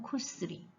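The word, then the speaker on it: 薬: 그 다음에 일본은 쿠스리. 요렇게 읽습니다.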